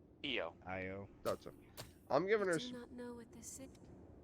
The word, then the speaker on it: Io: Is her name Io or Lo? EO.